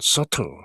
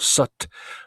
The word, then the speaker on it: subtle: 가장 단순한 표현은 subtle. 이때 비자는 묵음이죠. subt가 아니고 sut, 마치 비가 없듯이 sut 이렇게 발음하죠.